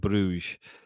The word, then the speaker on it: Brugge: I was looking for I should have just gone with the pronunciation of Club brouge but then I went down there pretentious route trying to say buer because you know that's Flemish or anyway uh yeah no